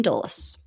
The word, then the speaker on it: Dulles: I know how to pronounce that word. Year and a half into the podcast, Washington Dulles.